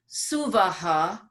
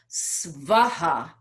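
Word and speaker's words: स्वः: And then suvaha, sometimes pronounced svaha, without the U in between the S and the V.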